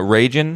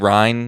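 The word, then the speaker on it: Reijn: I said it wrong in the intro. It's Helena Rajan. Rajan, yeah, Rajan. I said Ryan, which I think is totally wrong.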